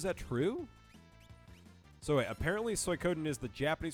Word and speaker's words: Suikoden: So wait, apparently Suikoden is the Japanese pronunciation for one of the 4 classics of Chinese literature, better known in English as the Water Margin.